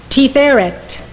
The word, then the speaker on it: Tiferet: This is how they are pronounced. These 9 Sefirot emanate from Keter. Chokhmah, wisdom. Binah, understanding. Chesed, love. Gevurah, power. Tiferet, beauty.